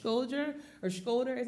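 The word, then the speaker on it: Shkodër: the high mountains just north of the city pronounced scholder or scholder as it's written here but most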